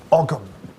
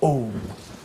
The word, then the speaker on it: ogham: engraving words into stone, called ogham, okay, or om, sometimes spelt without the H, which is primarily characteristic of Ireland.